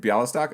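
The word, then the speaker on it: Białystok: pardon my pronunciations bialystok did i say it wrong i said it wrong that was right bialystok okay you've got a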